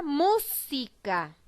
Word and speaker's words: música: acá yo la pronuncia para reconfirmar cuál es la sílaba que tiene mayor fuerza de voz no pica a la sílaba que tiene mayor fuerza de voz es la sílaba eso quiere decir que esa es mi sílaba tónica y está ubicada en la ante penúltima sílaba porque si observan la